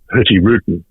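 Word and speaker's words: Hurtigruten: a truise company called Norwegian Cruise company called herty Ruden and I'll I'll spell that because it's an unusual word for most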